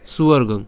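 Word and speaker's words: স্বর্গং: আমরা এটা ভেঙে দিয়েছি কিন্তু উচ্চারণ করার সময় আমরা একসাথেই উচ্চারণ করব ঠিক আছে তাহলে উচ্চারণটা কেমন হবে সুবর্গং এরপর জিত্তুয়া একই রকম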